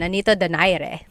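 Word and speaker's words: Nonito Donaire: So our first poll here is going to be Mani Pacquiao versus Nonito Daire or is in in the Tagalog uh pronunciation Nanito Dere.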